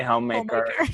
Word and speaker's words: Hommemaker: yeah, I was like, does I pronounce it in French? Right. No, I think you can just say homemaker. So I love this blog, Hommemaker.